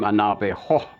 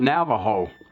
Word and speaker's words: Navajo: When they heard the word Navajo, they gave it the Spanish pronunciation, and they even applied the Spanish spelling, and it came out Navajo with a J-O at the end.